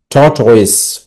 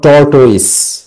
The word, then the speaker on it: tortoise: থট, দেখো এটা উচ্চারণ করবে কিভাবে? টি ও আর টি। থট, থট ওয়েস, ও আই এস ই, ওয়েস। থট ওয়েস। Okay, not টর্টওয়েস।